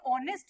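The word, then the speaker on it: honest: करेगा यू all know ये जो ऑनेस्ट है उसका साउंड एच से स्टार्ट नहीं हो रहा एच जो है वो एक कॉन्सोनेंट है ववलू यहां पे साइलेंट है साइलेंट है तो क्या आ रहा है सबसे पहला साउंड किसका आ रहा है अ ओ वाला साउंड आ रहा है तो यहां पे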